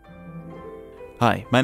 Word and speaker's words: SCHiM: only catch a quick glimpse of the official pronunciation is him but shim or skim is also allowed for the game we came